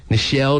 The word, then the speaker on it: Nichelle: It's Nichelle. Oh, it might be a woman. Oh, yeah. Nichelle Nichols?